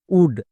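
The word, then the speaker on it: wood: যেমন নিচের শব্দে দেখো ডব্লু ও আছে, এর জন্য কিন্তু ওয়া সাউন্ড হচ্ছে না, যেমন উলফ, উড, এই দুটো হচ্ছে ব্যতিক্রম।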